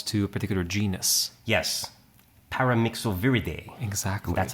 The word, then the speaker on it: Paramyxoviridae: paramyxoviridae. Exactly. That's how you have to pronounce it.